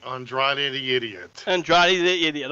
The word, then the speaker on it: Andrade: how that happened li dialo or android eye andretti idol joe's best friend he has an inflamed ankle say it right say it right andrade the idiot andrade the idiot okay and again